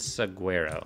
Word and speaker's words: saguaro: Yeah, highwood and saguaro. Is that how you pronounce it?